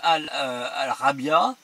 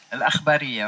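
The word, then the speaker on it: الإخبارية: reportage de la chaîne Al-Rabia, alors je l'ai mal prononcé, hein, Al-Akhbariya, oui.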